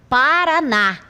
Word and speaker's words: Paraná: Porque nesta palavra a última sílaba aqui ocupa a posição última é tônica, é a que eu pronuncio com maior intensidade. Veja, Paraná. Observe que tem mais intensidade nesta última sílaba e ela é chamada de oxítona.